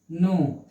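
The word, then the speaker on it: know: के जो है, यन से पहले, यन से पूर्व यानी पहले ही के साइलेंट हो गया, ठीक है। के साइलेंट हो गया इसलिए एन ओ डब्ल्यू, नो। ये दिखाने के लिए के लगा हुआ है, पढ़ना नहीं है, सिर्फ दिखाना है।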